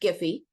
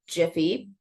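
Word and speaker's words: Giphy: I added information about giy Jiffy I don't know how people pronounce it I say giy it's a Search tool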